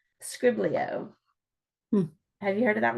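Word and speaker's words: skribbl.io: You can do a Pictionary type of game, and it's called Scriblio. Have you heard of that one? And I'll spell it out.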